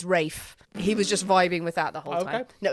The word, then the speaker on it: Ralph: So it's a bit like him just going, yeah, it's not Ralph, it's Rafe.